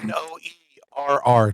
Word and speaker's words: Noerr: N-O-E-R-R, 2 R's. That's right, Noerr. Right. It's pronounced like the conjunction or the rice company that makes the rice dishes, but spelled different, so...